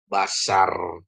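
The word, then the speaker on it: בָּשָׂר: Ada bet, ada kamats. Ini jadi a ya. Ini jadi a juga. Jadi ini jadi bacanya apa? Basar. Gitu ya Bapak Ibu Saudaraku, basar ya.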